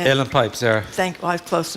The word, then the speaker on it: uilleann: Uilleann Pipes, yeah.